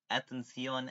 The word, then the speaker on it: Atención: It's pronounced Atención, Atención, which is Spanish for listen up, listen up.